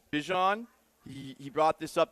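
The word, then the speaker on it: Bijan: Well, uh, guys, we've been saying Bejan Robinson's name wrong all along. His name is Bjon.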